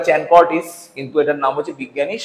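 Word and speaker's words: Chancourtois: সাকুরতোয়া চি আইস চানকর্টিস এটার নাম উচ্চারণটা চ্যানকটিস।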